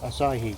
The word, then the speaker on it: Asahi: Asahi? Asahi, yeah.